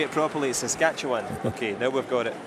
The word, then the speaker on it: Saskatchewan: was asking you how to say it properly Saskatchewan okay now we've got it big foot country